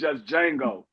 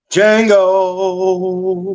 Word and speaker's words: Django: It's just Django. Django. Yeah, it's just Django. The D is silent, but most people would say that is a good role, but that's not my best role.